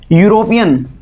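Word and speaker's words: European: यूरोपियन सबसे ज़्यादा confuse करने वाला वर्ड है, स्टार्टिंग ई से हो रही है बट इसमें लगेगा क्या, साथ में आर्टिकल ए का यूज़ होगा, बिकॉज यहाँ पर इसकी प्रोनाउंसिएशन स्टार्ट होती है यू साउंड से, और जबकि यू साउंड आपका वोवेल साउंड नहीं है।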